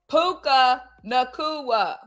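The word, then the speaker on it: Puka Nacua: How do you pronounce his name? Puka Nakua.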